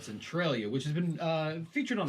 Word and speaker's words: Centralia: Centralia?